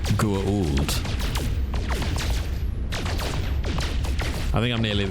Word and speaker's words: Goa'uld: It's pronounced Goa'uld.